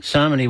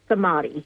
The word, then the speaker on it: Samadhi: But um let's go back to Sony which I think I keep mispronouncing. So yeah, it's Sami. Sami. So it's the middle it's the middle syllable that's the emphasized one.